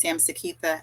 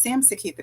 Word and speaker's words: Samseketha: This is Samseketha. I'm saying my name for you because a lot of you don't know it because I go by or Sam. So it's Samseketha, but lovely to be heard by Sam.